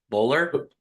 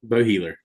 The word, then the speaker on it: Boheler: Today I have on Jimmy, I'm gonna butcher your last name, Bowler. Boheler. Boheler. Boheler. See, I butchered already.